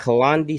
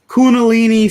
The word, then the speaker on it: Kundalini: The Kalandi serpent? It's Kundalini serpents.